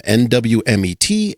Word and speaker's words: NWMET: Preferred pronunciation of the acronym NWMET, NWMET, Northwest Met. What's your go-to? Oh, well, per policy, yeah, the first time you mention it, it's Oh. Northwest Met.